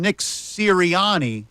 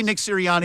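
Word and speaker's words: Sirianni: knee situation yesterday and Nick syani I say Nick syriani yeah syriani is probably right the right way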